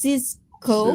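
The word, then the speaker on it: Sisqó: Cisco I thought that was sisq. It's Cisco. Cisco. Yeah. A different name same pronunciation. Yeah.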